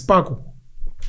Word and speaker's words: Sepako: Sepako cement. It's Sparko. Sepako, S-E. That's how you pronounce it, Sparko.